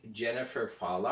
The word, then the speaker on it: Jennifer Fallaw: have our very very special guest this week jennifer fala i hope i'm pronouncing your name right am i Jennifer yes